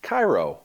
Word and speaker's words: Kairous: They say that's pronounced Kairous.